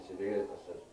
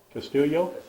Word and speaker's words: Castillo: But Carried 3 more to the 13, a pass fell incomplete, and Cedillo Pronounced that wrong on that. Castillo. Castillo. Once again, another short kickoff covered up by the Greyhounds at the 30-yard line.